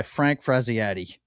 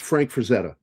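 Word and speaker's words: Frazetta: It was done by Frank Frazziadi. Frisetti Frisetti. off. You got me saying it wrong. It's Frank Frisetta. Okay.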